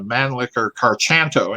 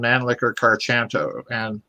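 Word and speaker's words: Mannlicher-Carcano: We've been reporting a Mauser, and apparently it's an Italian carbine, a Mannlicher Carchanto, and he even mispronounces it. 6.5 Italian Mannlicher Carchanto.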